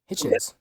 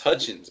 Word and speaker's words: Hutchins: Quintavious Hitchens. It's Hutchins, bro. Hutchins. Like Quintavious Hutchins. Hitchens. No, it's Yeah, Hutchins. It's the U.